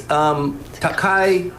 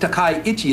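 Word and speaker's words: 高市: Her name is Takaichi. It's Takaichi. It's not Takaichi, it's Takaichi. So you pronounce your name Takaichi.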